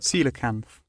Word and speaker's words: coelacanth: see how it sounds coelacanth ceiling kanth sorry ceelo camp see you later coelacanth okay cool that's how you say it it's a fish all